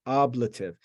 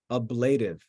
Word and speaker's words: ablative: case is called the oblative oblative and it's pronounced oblative sometimes when kids get started in Latin they say ablative it's not ablated it's oblative that's how you